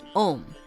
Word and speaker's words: Om: 1, pronounced Om, the sound or word of creation.